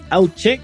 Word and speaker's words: Alche: everyone and our special guest today is Mike alchik which hopefully I I did Justice there to the pronunciation uh Mike welcome to react Roundup why